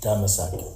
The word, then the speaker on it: Damascus: The real pronunciation for Damascus is Damasak.